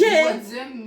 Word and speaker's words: Wadsm: Wadzem, mais ça s'écrit Watsum. Je mettrai le lien de sa chaîne en description.